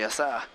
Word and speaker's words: Yasaka: Yasa, yasa. Sort of like a sa and a yo, but it's a ya.